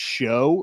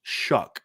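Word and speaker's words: Shough: know about Tyler shuck his name is pronounced shuck right like s h u c k correct Ryan his name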